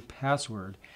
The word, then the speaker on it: passwd: one that's C passwd or as we just pronounce at C password and if we take